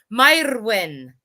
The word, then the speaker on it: Mairwen: If you'd like to hear how it sounds like in Welsh, I can give you that. Mairwen. There you go. Oh, I love it. Got to roll it, right? Yep, that's how they say it in Wales. That's awesome. Beautiful. I love it. I love the rolling R's.